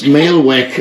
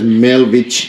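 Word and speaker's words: Melvich: How do you say it? Mailvech. Mailvech. Oh, it's Mailvech. I would have read it as Mailvich.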